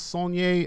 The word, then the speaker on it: Saulnier: directed by Jeremy Saulnier song your song a like Garnier oh it's it's like a French thing you pronounce the our III heard them pronounce song yeh at a Q&A so I'm gonna go with that still Nissan yeah song